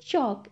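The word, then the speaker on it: chalk: चॉक क्या है यह चौक इसमें एल लेटर साइलेंट है मतलब उसे हमें बोलना नहीं है हम इसे कहेंगे चौक क्या कहेंगे चौक नेक्स्ट है चेयर क्या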